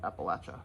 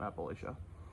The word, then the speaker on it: Appalachia: right now um and I'm pretty sure it's how youall pronounce it that's how most people from that area pronounced it Appalachia not Appalachia um I have family